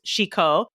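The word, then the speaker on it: 志向: And it's pronounced shiko in Japanese.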